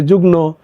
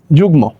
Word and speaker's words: যুগ্ম: হলো এই যে যুগ্ম অনেকে বলে যুগ্্য অনেকে বলে যুগ্ন উচ্চারণটি করতে পারে না তাই না যে তোমরা যদি এই রুলসটা জেনে থাকো তাহলে কিন্তু তোমাদের আর এই উচ্চারণ করতে কোন সমস্যা হবে না তাহলে অন্তস্থ এর পরিবর্তে আমরা জানি বর্গজ আসবে রস আর যুগ্ম গ ময়কার যুগ্ম তাই না আচ্ছা তারপর